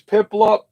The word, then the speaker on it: Piplup: he is so he's super popular so here's Piplup that's how you say its name here's this